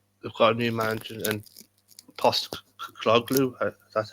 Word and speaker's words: Postecoglou: They've got a new manager and Postecoglou.